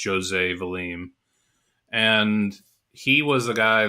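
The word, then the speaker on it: José Valim: And the guy that kind of is one of the spearheaders of that is a guy named, I think it's pronounced Jose Valim.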